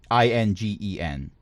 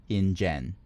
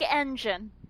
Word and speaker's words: Ingen: It's Ingen, Ingen. Like ingenious or something. Yes. Not like engine.